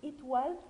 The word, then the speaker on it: étoile: O plus I se prononce wa. Étoile. Étoile. E à la fin, silencieux.